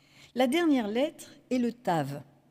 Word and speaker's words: Tav: La dernière lettre est le Tav. Ça s'écrit comme un T et ça se prononce ta.